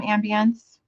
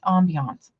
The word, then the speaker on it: ambience: I don't know if you guys do this, but I do a lot of room ambience. Well, my friend says you say it wrong. It's ambiance, whatever.